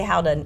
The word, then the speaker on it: gouda: But if you say how to nobody knows what you're saying.